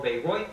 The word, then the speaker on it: Bayreuth: is correct, and the Beirut, or Bayreuth, as it's pronounced, is in Germany, West Germany Festival.